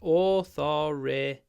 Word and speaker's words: authoritarian: authoritarian so the stress is actually it's authoritarian authoritarian authoritarian the next one I attend a lot of corporate events corporate two syllables corporate corporate corporate events I attend a